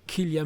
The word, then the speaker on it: Cillian: Alors, curieux de voir au niveau accessoire, et voir s'ils vont faire une tête de Cillian Murphy, ou Killian Murphy, tout dépend comment vous le prononcez.